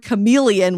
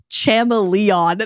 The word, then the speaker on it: chameleon: And in Ted Mosby's case, in How I Met Your Mother, he pronounces the word chameleon when he reads it for the first time as chamoleon.